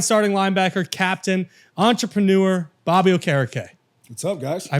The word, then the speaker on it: Okereke: Giant starting linebacker, captain, entrepreneur, Bobby Okereke. What's up, guys? I pronounced the last name correct, right?